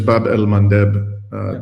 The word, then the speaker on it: Bab el Mandeb: Just again, the correct pronunciation is Bab el Mandeb.